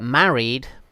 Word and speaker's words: married: like this that's correct but married just two syllables married similarly with carried